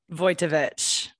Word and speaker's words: Wojtowecz: say your last name again for me voitovich voitovich well that's easier than i thought yeah